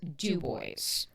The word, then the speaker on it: DuBois: So I know it looks like Dubois and I know that's how you want to pronounce it, but it's actually Dubo.